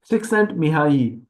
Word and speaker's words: Csikszentmihalyi: Csikszentmihalyi, that L is silent.